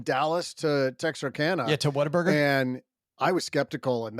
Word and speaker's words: Whataburger: 14 is Whataburger. Now Whataburger, OG, you've had a Whataburger since you moved to the South, haven't you? Yeah, but it's pronounced Waterburger. What? It's not what a burger.